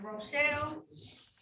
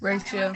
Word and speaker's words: Rachel: Now calling the matters of the people versus, is it Rochelle? Am I Rachel. saying it right now? Rachel. Rachel. Rachel.